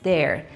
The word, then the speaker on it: their: Então, para dizer algo sobre eles, deles, usaremos their. E bastante cuidado com a pronúncia de their. É igualzinho a palavra para lá, né? Their. Eu ouço alunos de diferentes níveis acrescentando vogais na pronúncia de their.